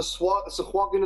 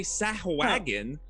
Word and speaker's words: sahuagin: The Sahuagin of the city of Shoals would work. Oh. Is that how you pronounce it?